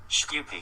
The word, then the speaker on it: Shkupi: SHKUPI.